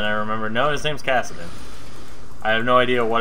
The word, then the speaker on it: Kassadin: Kassadin and I felt like I said his name wrong but then I remembered no his name's Kassadin I have no idea what I thought it